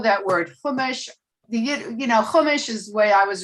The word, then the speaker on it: Chumash: but it's really humash i mean humish is more yiddishi but hamish comes from the hebrew word hamesh which means five and it's the five books of moses it's called the humish you would spell it c-h-u-m-a-s-h like chumash but humish and to me the